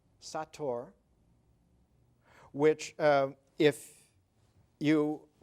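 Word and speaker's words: sator: At the top it read s a t o r and on the side it read the same way s a t o r not seder satur which um if you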